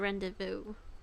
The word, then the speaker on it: rendezvous: gathered the needed amount i never knew that we are supposed to pronounce it as a rendezvous i have to look